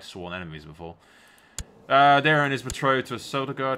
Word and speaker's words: Daeron: Daeron, yeah. You don't pronounce the E.